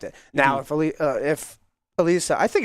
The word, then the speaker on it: Alisa: Now, if Al if Alisa I think it's Alisa. I could have been wrong this entire It's Alisa. Alisa or Alyssa. I think it's Alisa.